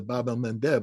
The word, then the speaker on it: Bab el-Mandeb: And the Houthi have shown the Achilles heel of Israel by shutting down the Bab el-Mandeb. I keep saying that because I finally pronounce it right.